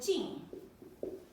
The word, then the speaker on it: 敬: It's called 敬. 敬. The 4th tone.